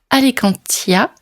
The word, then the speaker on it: Alicantia: Dans cet épisode spécial interview, nous allons faire la connaissance de la romancière Sophie Hall qui a publié sa trilogie Alicantia. J'espère que je le prononce bien.